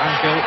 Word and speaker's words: Angel: And since then, the centre-half for Uruguay, whose middle name is Angel, and he pronounces it Angel, Bosio has been sent off.